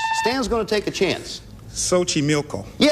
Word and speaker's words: Xochimilco: its floating gardens Stan's gonna take a chance Xochimilco I was afraid that's a Towers afraid I wasn't gonna get the right pronunciation - oh you did it as Xochimilco